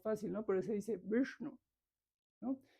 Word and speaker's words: Vishnu: Vishnu es hacia atrás también, no se dice Vishnu. Aquí digo Vishnu, pues para hacerlo más sencillo, más fácil, ¿no? Pero se dice Vishnu, ¿no?